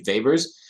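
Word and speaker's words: weber: is a Vapors per meter that's w-e-b-e-r are pronounced typically Vapors um uh now there's no such thing as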